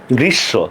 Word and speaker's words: গ্রীষ্ম: গ্রীষ্ম না, এটা হচ্ছে গ্রীষ্ম। তাহলে এটার উচ্চারণটা কি হবে? গ্রী, তালব্যস্য হসন্ত, তালব্যস্য ওকার, গ্রীষ্ম।